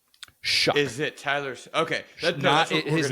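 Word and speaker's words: Shough: But will my question to you, have you pronounced Tyler Shuck successfully yet? Second topic. I knew it. Um, I feel like it's and I'm trying to say is it s u c k shuck?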